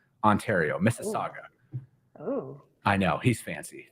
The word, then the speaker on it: Mississauga: And V actually gave me applause because I finally pronounced the city right. Mississauga, Ontario. Mississauga.